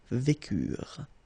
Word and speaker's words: vécurent: Nous vécûmes, final S not pronounced, vous vécûtes, same thing here, ils vécurent, so remember, mark for the plural, E and T is not pronounced phonetically, you don't get it, so vécurent.